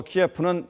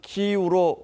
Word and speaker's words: 키이우: 그동안은 우크라이나의 주요 지명을 러시아식으로 표현해서 전했습니다만 지금부터는 우크라이나 발음에 따라서 대표적인 예로 수도 키예프는 키이우로 말하고 표기하기로 했다는 점도 먼저 알려드리겠습니다.